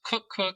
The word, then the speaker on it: Koekkoek: Uh, it's pronounced Cook Cookook, so you were close.